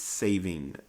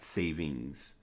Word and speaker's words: saving: daylight saving time yes it's saving not savings no longer hold true